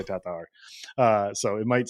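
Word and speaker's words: Tattar: with Kristen Tatar and I'm trying to pronounce it like Terry Miller does I'm doing my best I'm probably still gonna butcher it uh but trying to do my best to uh how Kristen and estonians uh pronounce her last name Tatar Tatar Tatar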